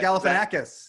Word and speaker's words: Galifianakis: zach galpa how do you say zach zach galifianakis yes thank you yeah mike welcome greek is